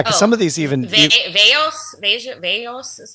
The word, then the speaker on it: viejos: Veos is how you say elderly. Viejos.